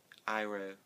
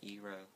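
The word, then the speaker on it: Iroh: Iro, not Ero.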